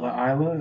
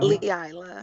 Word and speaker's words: Leila: Laila, is that how you say it? Laila? Leila. Leila.